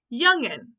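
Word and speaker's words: jongen: young men in Dutch when J starts a word it has a Y sound right mister bulwark he says yes so this is youngin so if you were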